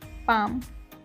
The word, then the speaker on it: palm: इसमें L जो है वो साइलेंट है, तो इसे प्रोनाउंस करेंगे पाम।